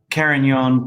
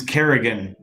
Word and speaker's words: Carignan: Yeah, I've heard Carignan pronounced as Kerrigan.